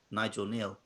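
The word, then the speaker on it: Nigel Kneale: would guess just neil nigel neil okay angel i'm assuming it's a silent k okay so nigel neil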